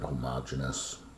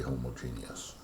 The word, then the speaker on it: homogeneous: we say it's homogeneous some people pronounce that homogeneous i say homogeneous um if it's not